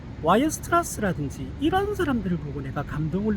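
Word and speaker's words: Weierstrass: 클레라 그지 데데킨트든지 뭐 와이어 스트라스든지 이런 사람들을 보고 내가 감동을 느낀 적은 많은 거 같아요 그래서 그런 사람들 처음 들어보죠 데데킨트 딜리 클레 와이어스 이게 원어 발음으로는 바이르 스트라스 일거요 바이르 스트라스 그리고 측도의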